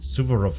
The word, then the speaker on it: Suvorov: Suvorov, okay, so wird das ausgesprochen.